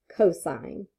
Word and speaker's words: cosine: All right, cosine is C-O-S, but when we see that, we still pronounce it cosine.